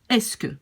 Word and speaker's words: est-ce que: And it's really pronounced like est-ce que. So we could in fact write it like est-ce que, right? This is just pronunciation.